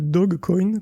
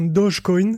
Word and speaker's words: Dogecoin: crypto Guillaume alors écoute je pense que c'est plutôt le dog coin comme le chien mal prononcé que comme un Dodge comme le doge de Venise mais ça serait marrant